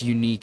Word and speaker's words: UNQ: UNQ pronounced unique is a name for my graduating class.